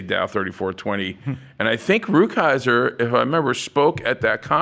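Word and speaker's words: Rukeyser: got the name wrong. Ruckhiser is the correct pronunciation.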